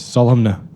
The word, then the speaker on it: solemn: got you there yeah do you pronounce the n in solemn I do 100% it's there for a reason okay I'm just Mak it sure yeah do you of course solna okay yeah um how